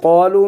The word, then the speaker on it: قالوا: خذوا ما آتيناكم بقوة واسمعوا قالوا इसमें क्या साइलेंट है अलिफ जमा का समिअना देखो कौलू में अलिफ साइलेंट है, ये बिल्कुल नहीं पढ़ना।